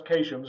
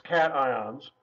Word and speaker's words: cations: ions which are called cations not to be pronounced occasions it looks like it should be said occasions its cations that's there's some positive